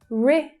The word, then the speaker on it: Mauritius: So here as well, how the third syllable reduces down to the schwa. Mauritius.